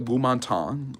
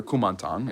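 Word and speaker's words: Kuomintang: But basically, the nationalist government, the Gumantang, or Kumantang, as the Westerners usually pronounce it, is on shaky ground.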